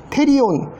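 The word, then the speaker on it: pterion: 프테리온. 테리온, 보통 P는 영어에서는 묵음되니까 이제 테리온이죠.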